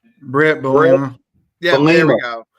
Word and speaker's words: Bielema: I like what I saw from I can never pronounce his name correctly. Brulema? The coach. Yeah, the head coach. Brulema? John, what's his last name? Brett Bielema.